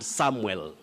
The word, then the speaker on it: Samwell: cherry chaplin and is asking about samuel and samwell there's a reason why i'm saying that samuel